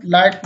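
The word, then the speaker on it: light: है तो इन सभी शब्दों में जी एच साइलेंट रहता है। अब देखें कुछ और शब्द। लाइट मीन्स रोशनी, वेट मीन्स वजन, साई मीन्स आह भरना।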